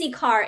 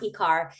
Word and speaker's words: IKAR: Uh it's EKAR. It's uh, it's pronounced Ecar.